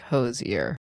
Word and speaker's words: Hozier: The Irish sing singer-songwriter said it's actually pronounced like Hozier.